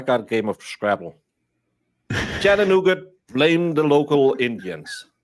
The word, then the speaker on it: Chattanooga: Chattanooga. Blame the local Indians. Why do you keep calling it nougat? Chattanoo. Because that's how it's spelled. There's no T at the end of Chattanooga.